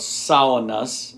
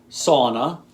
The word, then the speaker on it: sauna: The first syllable is like a female pig, Sow-u-na, Sow-u-na.